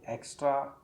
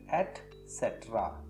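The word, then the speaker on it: et cetera: Mistake number 25, अक्सर हम इत्यादि इत्यादि के लिए एक्स्ट्रा एक्स्ट्रा एक्स्ट्रा या पता नहीं क्या क्या उच्चारण करते हैं, और अक्सर मैं अपने क्लास में बच्चों को भी देखता हूँ एटसेट्रा कहा जाता है। स्पेलिंग में ध्यान दें, ET-सेट्रा, CETERA, इसको हम पढ़ेंगे एटसेट्रा, एटसेट्रा एटसेट्रा।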